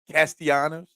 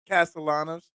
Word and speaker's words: Castellanos: I gotta say but again Nick Castellanos yes castanos Castellanos for that person that doesn't appreciate my mispronunciation big walk-off win for the Phillies last